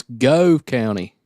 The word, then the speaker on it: Gove: forgot like four times it's go County Gove County Gove County Gove like a okay go County I'm struggling like glove but take the L out of it gotcha I'm better